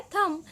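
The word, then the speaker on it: thumb: तो जब हम थम बोल रहे हैं तो ये जो B है यहाँ पर, ये B लेटर है साइलेंट, क्योंकि हम थंब नहीं बोल रहे हैं, हम बोल रहे हैं थम।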